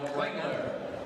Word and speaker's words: Klingler: Called the foul number 10, Owen Klingler. Klingler, they call him. We have a Klinger at our school. Spelled the same way. He doesn't pronounce the second L.